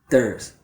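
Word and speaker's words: there's: So a lot of times when I hear students using this contraction, they don't actually turn it into a contraction. What they do is just pronounce it very fast, like this. Thurz. A native speaker will just say thurz.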